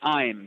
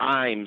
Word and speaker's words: Ames: Am I pronouncing it? It is Ashley Ames. Ames, yep.